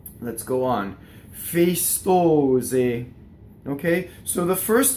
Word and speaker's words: festose: Festose.